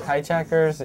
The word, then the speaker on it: Jaijackers: those hijackers is fonetic fanatic and it's spelled ftic it's spelled phonetically and it refers to hijackers as in cultural hijackers and media hijackers how you know to